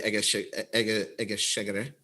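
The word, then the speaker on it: Egészségedre: Can you pronounce it for me again, please? Egeshegere.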